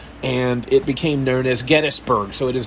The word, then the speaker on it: Gettysburg: Getty Oil, I guess, is why people call it Gettysburg, but it's actually Gettysburg, named after a man named Gettys who opened